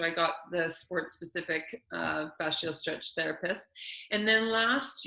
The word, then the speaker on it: fascial: Okay, yeah, so from the facial, if I pronounce that right, I always say facial, that's wrong. What's it? Fascial. Fascial.